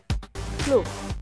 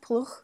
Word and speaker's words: Ploeg: Ploeg. Ploeg. Like Buch Buch. in German, but then Ploeg. Ploeg. Is that close enough? Ploeg.